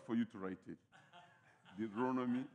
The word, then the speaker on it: Deuteronomy: If I want you to write that word Deuteronomy in that way, the way you pronounce it, right. Yeah, it might be difficult for you to write it. Deuteronomy. It's called Deuteronomy. Not Deuteronomy. Amen.